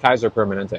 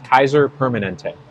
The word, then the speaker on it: Kaiser Permanente: what they heard yeah it's Kaiser Permanente it's not Kaiser permanent Kaiser Permanente I get put your